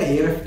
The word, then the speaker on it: Ahrefs: ඉතින් මෙන්න මේකට ref කියන එකට Ahrefs කියන එකට අපි මෙතන මේ දැන් සාමාන්‍ය එච් අකුර pronounce කරන්නේ නැහැ.